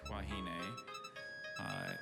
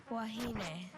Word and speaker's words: wahine: has no other pronunciation, just wahine.